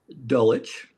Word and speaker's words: Dulwich: You were born in Dulwich. I said it right this time. Good work. Yeah. Dulwich, actually.